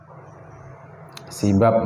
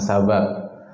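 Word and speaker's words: سباب: muslim itu adalah kefasikan sibab bacanya bukan sabab kalau sabab itu biduni alifal bab Aal bda harfil Babil Aal sabab bacanya Kalau ini ada Alif setelah ba pertama bya sibab jadi mencela membuli menyamb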